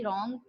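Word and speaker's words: wrong: यहां पर और में डब्लू साइलेंट होता है डब्ल्यू आर ओ एन जी रॉन्ग कि डब्लू जो है यहां पर वह साइलेंट होता है लिखते हम हैं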